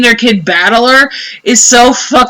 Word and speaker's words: Battler: not a given name blank is made up of the characters from fight and person and is pronounced battler so literally if you translate